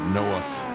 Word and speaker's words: Noah: Uh and Noah and it rhymes with Hawaii.